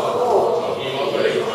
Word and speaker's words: Paul: The pattern of the Apostle Paul, cooperating with Christ's heavenly ministry to shepherd people for the building up of the body of Christ.